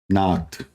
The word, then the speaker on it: Nacht: Nacht.